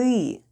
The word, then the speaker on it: ты: When we need to say "you want" it's ТЫ ХОЧЕШЬ /têê hhochesh/...